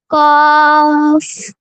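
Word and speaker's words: ق: এই যে এই জিহ্বার গোড়া তার বরাবর উপরে তালুর সাথে লাগাবো, লাগিয়ে আমরা 4 আলিফ টানিয়ে উচ্চারণ করব। কয় আলিফ? 4 আলিফ টানিয়ে উচ্চারণ করব। কফ কফ।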